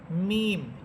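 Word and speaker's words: م: এখানে আমরা বা হরফটা যে মাখরাজ পড়েছিলাম যে দুই ঠোঁটের ভিজা অংশ থেকে বা হরফ উচ্চারিত হয়, আর মিম হরফটা উচ্চারিত হবে দুই ঠোঁটের শুকনা অংশ থেকে।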